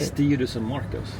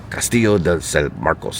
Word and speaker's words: Castillo de San Marcos: Castillo de San Marcos. Castillo de San Marcos.